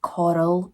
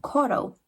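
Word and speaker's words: Corll: So Dean Arnold Coral, I'm going to have to say his name like Coral because Coral Scottish people, we can't do it right.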